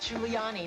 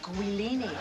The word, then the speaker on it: Giuliani: shouldn't have to tell an anchorwoman that it's pronounced Giuliani not Collini ambitious I wanted to be Don Hewitt in